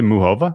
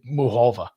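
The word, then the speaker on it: Muchová: Muchova really was the beneficiary of a is it really Muhova? Well, I asked this question in our chat because it was 4 different pronunciations of her name. The announcers, the announcers are they said it 4 different ways. Yeah. But I heard someone who actually I think knows who she is say Muhova.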